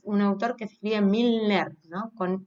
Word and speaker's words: Milner: Es importante aclarar que él es un autor que se escribe Milner, ¿no?